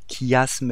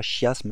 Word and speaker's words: chiasme: Donc vous prononcez chiasme et pas chiasme, hein, c'est quand même beaucoup moins joli.